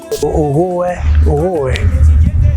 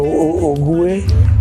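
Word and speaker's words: Ogooué: Ogoé, c'est-à-dire Ogoué ou Ogoé. Que cela, ça dépend des prononciations de chacun.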